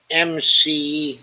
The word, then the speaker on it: McDonough: is spelled mcdonough m-c-d-o-n-o-u-g-h it's mcdonough the old scott spelling mcdonough i forget her first